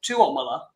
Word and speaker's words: Tuomola: So in Finland, they stress the second syllable. So it's Tuomola, and I don't even say it right all the time.